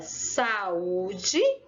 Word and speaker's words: saúde: a saúde então quando eu falo a palavra saúde eu vejo que a sílaba tônica é um bloqueio porque eu demorei